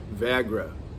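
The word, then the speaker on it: वैराग्य: It sounds like the pill that's called Viagra. It's pronounced like that, Viagra, something like that, and it means dispassion.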